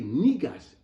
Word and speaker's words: Negus: Africa was called Ethiopia so when I say nigos it is an African king AKA Ethiopian King